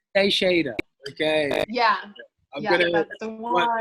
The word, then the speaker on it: Teixeira: You've spelled it now to help people be able to pronounce it. I've seen here. So yeah. Teixeira. Teixeira.